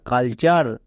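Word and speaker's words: culture: আর ই চার নেচার সি ইউ এল কাল টি ইউ আর ই চার কালচার পি আই C pick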